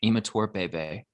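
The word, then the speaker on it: Imatorbhebhe: It's Josh Imator Bebe. Oh my gosh, you killed it. Good job. Yes.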